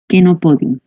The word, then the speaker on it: Chenopodium: Aunque diga cheno, aunque se mira pues la che aquí, no se la pronuncia como che, sino como K, Chenopodium.